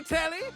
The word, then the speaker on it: Telly: Rhymes with Nelly. Like, whoa, Nelly. Did you know Telly offers 5,000 channels like an endless deli?